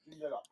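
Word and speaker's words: Joondalup: Junaloop, I think that's how you pronounce it. Jundalop.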